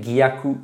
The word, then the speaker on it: Gyaku: Donc non, voilà, il faut bien prononcer Gyaku avec le G tout au début.